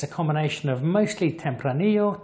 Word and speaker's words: Tempranillo: a combination of mostly Tempranillo Tempranillo if you're in South America where the Double L is pronounced SH and some Graciano about